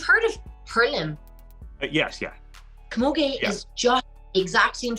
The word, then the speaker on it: camogie: thing um and i don't know if i'm pronouncing this right but you used to play camogie yeah yep yeah you got it yeah is